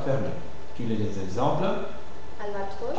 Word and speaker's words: albatros: Et dans certains mots qui se terminent comme ça, la prononciation sera fermée. Tu lis les exemples. Albatros Albatros Alvatros gross gross gross axium axium axium Amazon